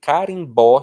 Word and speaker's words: carimbó: Então, se eu quiser dizer carimbó, se eu quiser escrever carimbó, só as letras C-A-R-I-M-B-O não bastam para mim, eu preciso do acento.